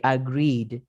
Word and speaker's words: agreed: Miren que agreed y prospered, yo no pronuncio la ed. En lifted, sí.